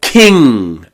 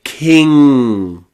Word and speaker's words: king: Okay, this is in words like sing or bang or hang or king. Okay, we don't say kin with that n. We don't say king. We say king and the mouth sort of goes.